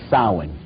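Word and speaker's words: Samhain: Halloween in the occult World they call it sa now when you look at the name it looks as if it's saying Sam hayan or something like that no no no no this is properly pronounced in the ancient gelic as sa sin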